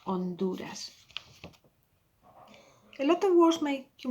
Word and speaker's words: Honduras: if you remember correctly, it was at the beginning of a word, you don't pronounce it, so that was read Honduras, Honduras.